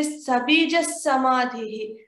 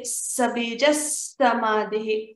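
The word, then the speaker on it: सबीजः समाधिः: And when we say sabijas samadhihi, we have to say sabijas samadhihi. The double S sound has to come here.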